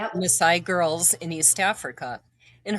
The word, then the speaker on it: Maasai: In 1999 and 2000, she lived in Tanzania where she taught English at the first school for is it pronounced Messiah. Correct. Yeah. Messiah girls in East Africa.